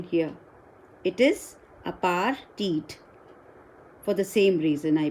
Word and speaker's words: apartheid: Again, note the pronunciation here. It is apartheid for the same reason, I believe.